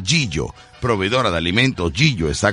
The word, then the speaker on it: Gigio: Proveedora de Alimentos Gigio, así se escribe, G-I-G-I-O. Pero se pronuncia Gillo.